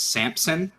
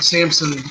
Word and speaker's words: Sampson: I tweeted this out I hate how everyone pronounces his name is Sampson because there is no P in this dude's name it's Elias Sampson like Samson and Delilah but it's not it's not the Samson's you know we're